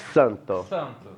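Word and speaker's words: Xanthosoma: tem duas pegadinhas também primeira pronúncia de x por aparecer o x pessoal em nome científico sempre vai ter pronúncia de que quem dar se o x tem som de que é então aqui o pessoal vai acabar falando chanthu mas é que santo legal e aparece um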